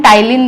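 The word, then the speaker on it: ptyalin: Amylase, और इसको हम टाइलिन भी बोलते हैं। क्या बोलते हैं, टाइलिन। ये इसका दूसरा नेम है जो आपको याद रखना है, पी साइलेंट है, टाइलिन।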